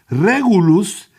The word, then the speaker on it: Regulus: Es que es, perdona, pero es latín, ¿va? Te tengo que decir cómo suena, vos lo pronunciás en inglés. Regulus. Y Regulus es una palabra que viene del latín rex, que es rey.